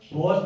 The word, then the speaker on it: Bohr: अब इसमें एक मॉडल भी आता है जिसको हम बोरन्स मॉडल भी बोलते हैं, बोर्स मॉडल भी बोलते हैं, ठीक है।